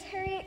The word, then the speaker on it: Harriet: Agents, I'd like to introduce you to Miss Harriet King. Harriet rhymes with parrot. I'm sorry. It's pronounced parrot. The I is silent.